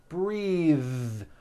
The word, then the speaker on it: breathe: suit breathe same thing breath is a noun take a breath unvoiced but when you change it into a verb the vowel changes and it becomes breathe I am breathing with a voiced th now let's do some